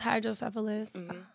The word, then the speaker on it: hydrocephalus: Is it hydrocephalus? Am I saying it right? Yeah, it's hydrocephalus and cerebral palsy.